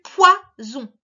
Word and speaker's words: poison: Alors, cette fois, le son P, WA, comme dans poisson, le on à la fin aussi, sauf que cette fois, on ne met que un S qui fait Z, puisqu'il est entre 2 voyelles.